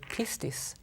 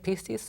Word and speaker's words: pistis: faith, most of the time it's the word pistis. Mm-hmm. P-I-S-T-I-S. That's how you would spell it.